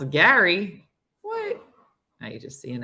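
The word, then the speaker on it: Gerry: doting father and grandfather Jerry pronounced Gary okay the g-e-r-r-y pronounced Gary what he don't even know how to spell um he married his high school sweetheart in 74.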